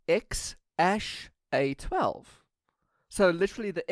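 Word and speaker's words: X Æ A-12: actually pronounced and according to Elon Musk it's pronounced ex ash a 12 so literally the X is 12 and X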